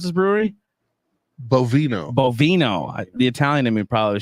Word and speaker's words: Bovino: How do you pronounce this brewery? Bovino.